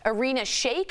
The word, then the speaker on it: Irina Shayk: According to TMZ, Kanye is spending time with Bradley Cooper's ex, Irina Shayk.